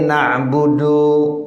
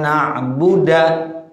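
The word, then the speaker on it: نَعْبُدُ: na'budu, kita bacanya iyyaka na'buda. Salah enggak tuh? Salah. Ya, na'budu dibaca na'buda walaupun tidak merusak artinya. Iyyaka na'budu, iyyaka na'buda kan enggak merusak tuh artinya.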